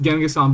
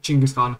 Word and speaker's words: Chinggis Khan: It's actually not pronounced Genghis-san, but Chinggis-Khan, so, bruh.